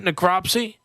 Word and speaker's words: necropsy: species is endangered that's crazy because then people necropsy is that how you pronounce that necropsy yeah performed by the Florida Fish and Wildlife